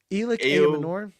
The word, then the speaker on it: Ayomanor: How do we pronounce his name? Elic Ayomanor.